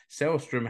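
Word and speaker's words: Sällström: this game Rich because I was told that the a with two dots over the top which you would normally pronounce ah in Finnish but because Linda selstrom selstrom has a Swedish name then that letter is pronounced but as an e so it's a cell stripper there you go listen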